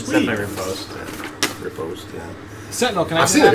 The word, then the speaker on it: riposte: Repost, yeah.